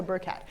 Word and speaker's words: Burchat: So as you heard, my name is Burchat. People often ask, how do you pronounce my last name? So it's like a little burr and a cat, okay, so Burchat.